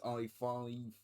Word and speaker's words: I-5: Saying it out loud I'm just realizing now that sounds like hi-fi but I-5 is more of a friend to her then we're told that I-5 has a bit of a quest.